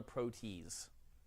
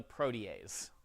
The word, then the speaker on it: protease: Please do not call it a protease. It's spelled that way, I know. It's a protease.